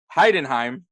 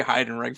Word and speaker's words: Heidenheim: Man, this is going to be a true testing of my pronunciations. Eintracht Frankfurt, Cologne, SC Freiburg, Heidenheim. That's we want to say Heidenreich for some weird reason.